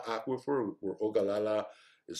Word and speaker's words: Ogallala: you just um google high plains aquifer or ogallala aquifer or ogallala is spelled o g a lla and they'll give